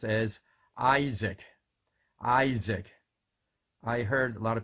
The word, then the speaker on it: Isaac: in the tours and then learn how to pronounce those two words how about people names let's think about these three names is AAC and mos es and MC and ABB you